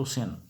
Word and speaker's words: Sena: During the rule of Samanta and his son Hemanta Sena, the Sens had সেনা মানে সেন বলবে আর কি, হেমন্ত সেন সামন্ত সেন এইভাবেই বাংলায় বলা হয়।